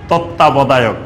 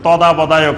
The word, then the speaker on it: তত্ত্বাবধায়ক: সরকার নিয়ে আলোচনা চলতেছিল, তো শব্দটা অনেক কঠিন না, তত্ত্বাবধায়ক। তো তারা দেখি যে বারবার বলতেছে তদাবধায়ক সরকার, তদাবধায়ক সরকার। আমি দেখেন বাংলার কত বিকৃতি, তত্ত্বাবধায়ক উচ্চারণ করতে পারতেছে না, বলতেছে কি তদাবধায়ক, তাদের খবরের মধ্যে বারবার বলতেছে।